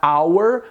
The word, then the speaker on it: hour: som do r então o som do h em inglês ele tem esse som mudo e aí você pronuncia hour como se não existisse